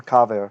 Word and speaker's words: kaver: And that originally, in ancient times, in this case, would have been kever. And because kever got the stronger accent, it became kaver.